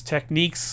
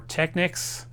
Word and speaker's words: Technics: fine and I know there's a lot of debate on how to pronounce this whether it's techniques or Technics well it's actually pron pronounced exactly the way it's spelled so I hope that